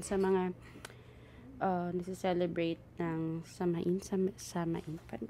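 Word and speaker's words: Samhain: mga ah nagce-celebrate ng samain Paano ba bigkasin yit saen so sawin so sa mga nagce-celebrate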